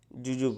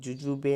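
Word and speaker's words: jujube: sweet lamb म्हणजे मोसंबी जुजूब okay जुजूब म्हणजे बोर आता जुजूब ची स्पेलिंग व्यवस्थित बघून घ्या जे यु जे यु बी इ जुजूबे नाही म्हणायचं इथं जुजूब जुजूब म्हणजे बोर नंतर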